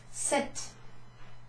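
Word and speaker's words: sept: cease cease s50 now this is a almost a silent piece set set well in Padgett is a silence he ate what was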